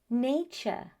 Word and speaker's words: nature: The T-U-R-E ending is very often pronounced as ch. Let me repeat that, ch. That's why it's future, structure, nature, architecture.